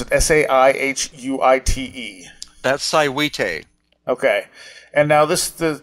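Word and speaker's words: Saihuite: you have up of uh i i can't pronounce it s-a-i-h-u-i-t-e that's cywite okay and now this the you found some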